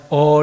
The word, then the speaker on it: awe: 해놨습니다 이제 두려움 이제 영어로는 뭐라고 awe 안단테 그냥 어 라고 하는 그렇게 부를 0 으로 발음합니다 이것은 두려움 이에요 주님의